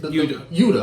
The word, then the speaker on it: Yuta: Yuta. I'm sorry, Yuta.